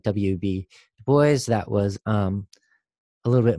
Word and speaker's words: Du Bois: people like w eb Dubois RG boys sorry I want to pronounce things like like like they're they're French but he said to boys and it was an